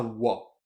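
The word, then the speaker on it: は: un peu différemment notamment la particule qu'on écrira ha mais qu'on prononcera wa la particule wo qu'on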